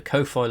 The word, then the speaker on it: Ko-fi: doing please also consider the Kofi link which is or down below or coffee however you prefer to pronounce it is down below